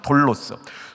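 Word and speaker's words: δόλος: 이 간사함의 헬라어는 돌로스입니다. 돌로스. 좀 길게 발음해야 됩니다. 두울로스가 종이에요. 이거 좋은 겁니다. 두울로스 종, 예수님의 종할 때 두울로스예요. 근데 이거는 돌로스입니다.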